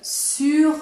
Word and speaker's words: sur: Donc tu comprends déjà le mot sur con la vocale U. Sur. Acuérdate que la R, cuando se pronuncia al final, es ligera, no la insistes mucho. Sur.